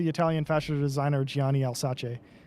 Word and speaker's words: Alsace: Wing, it's pronounced Alsace. Alsace. That's how the ship is pronounced. Yeah, it's not the easiest, not the hardest. I emphasize the S more than the Z sound because I'll say Alsace. Yeah, you cannot do say Alsace. Yeah, it's Alsace. That's how you pronounce it in French, at least.